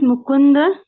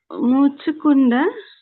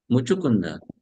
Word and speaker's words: Muchukunda: C is pronounced as what? Sir. Cha. Cha. So it will be. Muchukunda. It will be Muchukunda.